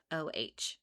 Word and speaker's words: Yeoh: Oh, Aisha Yo, if I'm pronouncing that correctly, it's Yeoh.